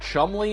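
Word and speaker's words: Cholmondeley: It's not easy to top crazier in an age where Chick-fil-A is testing out pizzas, and this word, impossibly pronounced chumley, is in the headlines.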